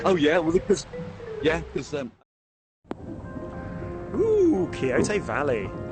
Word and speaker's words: Quixote: Well, because Ooh, Kyoto Valley. is that how you're pronouncing it? Is that what we're going with? Why is there it's presumably like Don Quixote, isn't it?